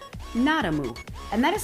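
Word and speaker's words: Nadamoo: n-a-d-a-m-o-o exclamation point and the name of the brand literally translates to the fact that it has no dairy in it like nada no moo would be a cow so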